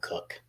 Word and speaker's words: Koch: son of Jr um it's spelled k-o-c-h I grew up I had friends that lived across the street from me they spelled their name k-o-c-h but we called them cook just for the record